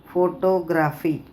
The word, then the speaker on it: photograph: Photographers, photography. B. Photograph, first syllable. Photography, second syllable.